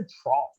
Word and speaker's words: trough: tell you, it's a trough. trough, No, trough. trough, Like F as in, fuck Oh. you, it's trough.